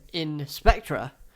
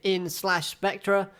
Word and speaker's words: In/Spectre: gonna pronounce a slash I'm not gonna say in slash spectra it's like hunter hunter you don't say hunter x hunter you say hunter hunter you know let's just